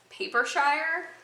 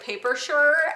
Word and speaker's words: Paper Shire: like I know I kit nish told me it's apparent paper Shire so like I want to pronounce it like worse - sure like I want to pronounce it like paper sure and like I know